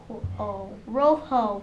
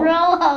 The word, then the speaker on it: rojo: do you spell that now how do you pronounce that Rojo there you go Rojo it sounds like Robo yeah but sound but